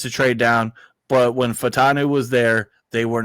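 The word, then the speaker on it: Fautanu: the time Troy fanu and I had been saying his name wrong the whole time I was shingy Troy fanu and it's fanu fanu and listen it's weird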